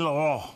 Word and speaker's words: Laurent: Did I pronounce that right, Al? Yes, it's Yves Saint Laurent.